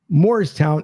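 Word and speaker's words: Moorestown: Moores town, Morristown, but everybody pronounces it Morristown, even though it's North Jersey.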